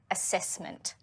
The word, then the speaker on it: assessment: How many syllables in assessment? Assessment. Assessment. Which syllable takes the main stress? Assessment. Assess. There are actually 8 sounds in this word. As opposed to 10 letters.